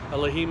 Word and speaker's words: Elohim: Okay, Elohim is the plural, correct pronunciation of the council, if you want to